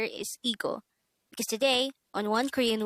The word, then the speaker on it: 이거: number 184 eagle eagle this is pronounced as a two-syllable word the first syllable is e the second syllable is go pronounce it with me ego ego the meaning of the